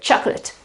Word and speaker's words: chocolate: So the rule is verbs. Yes, you use the pronunciation ate, debate, participate, but when you have nouns, then you change the pronunciation completely. It is ut. and the accent is before, chocolate certificate.